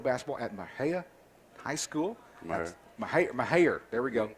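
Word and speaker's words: Mexia: Mahia. There we go. Say it again. Mahia, Texas. Mahia High School. That's how you pronounce it correctly.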